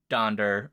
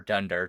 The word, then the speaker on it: Donder: Prancer Vixen Comet Cupid donder or Dunder depending on your pronunciation Blum in the original